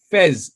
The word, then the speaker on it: Faiz: let me clarify that it's pronounced fez as an f-e-z but whatever you call